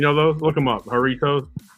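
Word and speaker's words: Jarritos: those look them up haritos j a r r i t o s and you know how you know how like a Mexican J is pronounced with an H sometimes right like Jorge is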